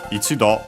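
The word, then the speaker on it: 一度: on the do itself, and ichido is one of them. So, by the way, when pronounced on its own, it sounds unaccented, but technically is accented on the do, according to the dictionary.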